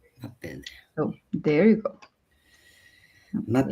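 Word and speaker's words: Maped: We pronounce this in Spanish Mapef, but it's a Canadian company. Muppet.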